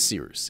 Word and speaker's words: Cyrus: My name is Seeroos. It's spelled like Cyrus, pronounced like Seerooster. Just take out the tur.